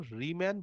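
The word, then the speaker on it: Riemann: রিম্যান বা রাইম্যান, এক একজন এক এক রকম উচ্চারণ করে, ম্যাথমেটিশিয়ান নাম, উনি জানবেন ওনার উচ্চারণ কি বেশ, তবে রিম্যান ইন্টিগ্রেশন বলে আমি বলছি।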